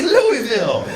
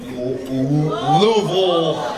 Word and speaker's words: Louisville: Cause your S is silent. And then you like to call it Louisville. Where the fuck you guys come up with that? Louisville. Sounds like you're about to nut. Louisville.